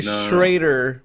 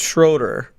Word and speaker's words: Schroeder: You say Schrader when it's Schroeder. I didn't want to say anything either, but I noticed you saying it wrong.